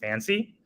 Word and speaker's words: FNCY: to introduce our project our project is fncy or pronounced fancy and it's our new